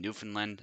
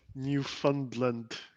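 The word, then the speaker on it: Newfoundland: toaster was commenting my pronounciation New Finland I I do both sometimes but yeah New Finland is perfectly fine easier to say too to be fair so or like new fundland yeah it's literally New Foundland if you to pronounce it I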